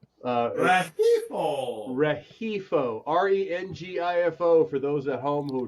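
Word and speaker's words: Rengifo: I'm gonna say it right uh REO REO re ngfo for those at home who don't have is silent the is silent Ray he uh Swit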